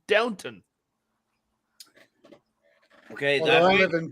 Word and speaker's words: Downton: For one, you're saying the name wrong. You're saying Downtown Abbey. It's Downton.